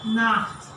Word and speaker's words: Nacht: When you leave, you will say Gute Nacht. Gute Nacht means good night. Okay? Gute Nacht. Also this is with a throat because we have a Nacht.